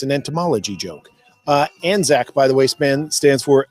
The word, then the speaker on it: Anzac: Anzac is spelled as it sounds, A-N-Z-A-C.